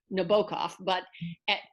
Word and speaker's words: Nabokov: We call him in English Nabokov. I think his preferred pronunciation was Nabokov, and of course she called him Nabokov.